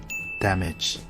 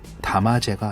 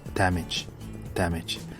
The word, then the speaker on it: damage: damage. 담화제가 아니고요. damage.